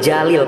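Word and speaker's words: جليل: Kita ambil jalil pakai jim ya, artinya agung. Kalau pakai zai, zalil gitu, itu artinya tergelincir.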